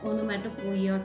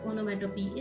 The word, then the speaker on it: onomatopoeia: The next figure of speech that they have asked is onomatopoeia, or you can pronounce it as onomatopoeia too, but onomatopoeia is much correct.